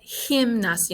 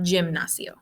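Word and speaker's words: gimnasio: sure you pronounce that him nasi no like with an h sound not jim nacio principal's office is la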